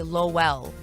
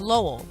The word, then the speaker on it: Lowell: That's how I feel when people say Lowell. Really? They say Lowell? Yes, they say Lowell, but it's Lowell.